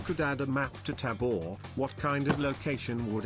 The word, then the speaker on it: Tabor: of the game right it's Tabor tab Tabor Tabor that's much better than Taber it's a lot closer